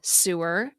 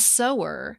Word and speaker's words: sewer: Think about the word sewer, meaning a drain pipe, and sower, meaning one who sows. The words aren't related at all.